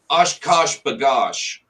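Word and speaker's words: OshKosh B'gosh: Oshkosh bagosh.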